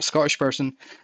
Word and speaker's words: Scottish: from a from a Scottish Because right there, what I just did, pronouncing Scottish. Scottish. I'm not saying the letter T. I'm saying Scottish. Scottish. Oh, like I'm That's a glottle stop.